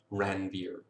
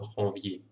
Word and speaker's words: Ranvier: Now between Schwann cells, there are little spaces called nodes of Ranvier. That's how you pronounce it in English, but Ranvier was actually French, so it should be nodes of Ranvier.